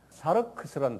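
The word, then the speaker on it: σάρξ: 사르크스라는 단어를 써요. 사르크스 이렇게 하는 발음 나는 대로 쓰세요.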